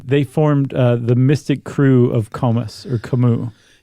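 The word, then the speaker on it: krewe: Uh but Crew is spelled with a k r e w e.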